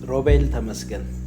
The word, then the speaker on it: Robel Temesgen: The way I say it is Roel Tamasan.